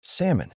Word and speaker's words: salmon: The L is completely silent. We don't say it at all. The correct pronunciation is salmon.